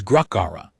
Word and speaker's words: Gruckara: the fever took her, was Gruckara, 3 syllables. The third one rose slightly at the end, the way certain questions did in the old High Orcish, the ones that expected